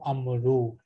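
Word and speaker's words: عمرو: So we add an extra vowel to Amar. So it becomes Amru.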